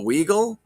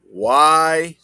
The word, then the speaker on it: Weigel: Oh, Weigel? It's not Weagle? Are you kidding me? I've been saying it wrong all these years. All right. Let's practice, everybody. Weigel.